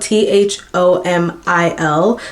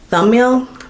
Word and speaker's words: Thomil: His name is spelled t h o m i l. So, I thought it would just be Thomil. But then, the way that he says it's pronounced is like thumbil.